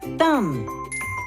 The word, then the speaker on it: thumb: The B in both of these words is silent. We do not pronounce it. Thumb, climb.